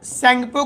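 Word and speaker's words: Tsangpo: Indo सैंगपो का spelling T से शुरू होता है, सैंगपो फ्यूचर जोन ITSZ,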